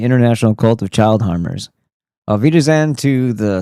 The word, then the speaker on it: Auf Wiedersehen: And then, "Auf Wiedersehen." Phonetically, it sounds or rhymes with Velveeta Zein. To the lies of Rothschild and the international cult of child harmers. Auf Wiedersehen to the spell of